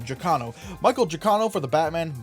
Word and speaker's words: Giacchino: I think that's actually how you pronounce his name, Giacchino.